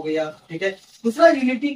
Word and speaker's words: हिंदू: पार करके आया था, उसको तकलीफ हुआ सिंधु बोलने में, एस साइलेंट कर दिया। ठीक है। ठीक है। तो पर्शियन एम्पायर था, एस साइलेंट कर दिया तो हिंदू बोल दिया जी।